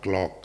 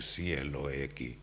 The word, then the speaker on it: cloak: Now this robe, this body is called clock. I think C-L-O-A-K. Not clock. Cloak.